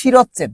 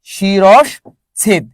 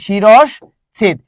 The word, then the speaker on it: শিরশ্ছেদ: দেখো শিরচ্ছেদ শব্দের কি শিরচ্ছেদ নাকি শিরশ্ছেদ? শিরশ্ছেদ এই শব্দটা আমরা অনেকে ভুল করি, আমরা বলি শিরচ্ছেদ। না, এই শব্দটা শিরচ্ছেদ না, এই শব্দটা কি বলতো? শিরশ্ছেদ। কি? শিরশ্ছেদ। এই জায়গায় একটা তালব্যস্য বসবে, এই জায়গায় কি বসবে? একটা তালব্যস্য বসবে। কি বসবে বলতো? তালব্যস্য।